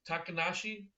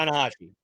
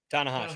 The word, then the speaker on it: Tanahashi: So I love the creativity that you took there, especially with the Tokyo thing, and Ta- Takanashi. Am I pronouncing that correctly? Tanahashi. Tanahashi, yeah.